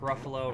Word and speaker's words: Ruffalo: Buffalo Nickels, Mark Ruffalo, rhymes with Buffalo.